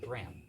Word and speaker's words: Graham: Casey Casey what uh Graham Graham g r a h m g r a h a m yeah I'm getting super Scottish I two syllables and how do you